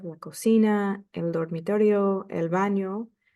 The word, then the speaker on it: baño: cocina, el dormitorio, el baño. Don't forget the ñ. It's pronounced like an N and a Y in English. So el baño, la bañera, el sótano, el techo, and then los quehaceres.